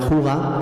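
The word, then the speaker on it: hygge: Pues mirar, hacen distinto esto, un concepto que ellos llaman Huga, que se escribe así Hige, pero se pronuncia Huga, no me preguntéis por qué, y este concepto Huga lo representa muy bien esta foto.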